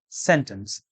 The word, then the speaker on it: sentence: The correct pronunciation is sentence. Stress is on the first syllable.